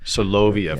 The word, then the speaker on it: Soloviev: Soloviev.